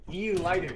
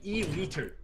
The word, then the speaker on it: E-liter: What an E-lighter. It's an E-liter.